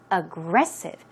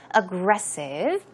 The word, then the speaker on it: aggressive: space okay to go backwards also aggressive aggressive pronunciation is aggressive stress goes on Gress the second syllable aggressive and it basically means to be combative or